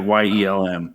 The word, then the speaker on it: Yelm: It's like Y-E-L-M, like Yelm. Perfect. If we hadn't covered that the other day, I would have butchered it for sure.